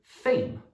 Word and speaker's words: fame: And the same with fame.